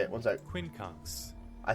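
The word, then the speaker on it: quincunx: conks how do you say it one sec Quinn kuns I said it right Quin kks an arrangement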